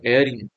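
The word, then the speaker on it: heir: लिखा है है ना ये भले ही स्टार्ट एच से हो रहा लेकिन ए में साइलेंट होता है इसको पढ़ते हम एर तो ही इ एन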